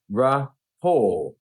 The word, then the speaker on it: rapport: So, what do you think about the way he's pronouncing this at the end? Do you actually hear R sound or do you hear I don't hear the A that he has below it?